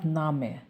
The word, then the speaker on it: Name: literal meaning করে তোমার নামকে এটা বলতে চান সেটাও হয় সেটাও দেখায় দেখুন ফরমালের ক্ষেত্রে ফাসিস্ট ইয়া নামে এটা আবার নেম বলবেন না দেখতে ইংলিশের মত হলেও এটার উচ্চারণ হবে হচ্ছে নামে ফাসিস্ট ইয়া নামে আপনার